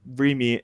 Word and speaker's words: Remy: What is the name of the sloppy boy that befriended Remy in Ratatouille? It's pronounced Remy.